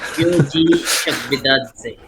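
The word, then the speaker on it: Giorgi Chakvetadze: pronounce Georgie the Georgian dude. Georgie Chakvidadze.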